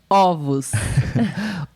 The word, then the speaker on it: ovos: Ovos.